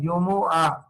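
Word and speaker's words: جمعة: असल इसका प्रोनाउंसिएशन क्या है? जुमुआ, अरबी में अल जुमुआ।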